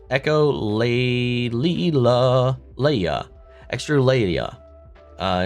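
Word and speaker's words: echolalia: It's pronounced echolleia.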